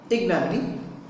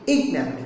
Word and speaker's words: ignominy: So nominee, normally we pronounce it ignominy, ignominy, but here there's a stress on a, ignominy, shame, I-G-N-O-M-I-N-Y.